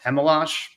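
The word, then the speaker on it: Chmelař: They called up Yaruslav Hemalash.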